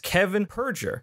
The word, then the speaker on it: Kevin Perjurer: Defunctland Kevin Perjurer. I pronounced that correctly, yes?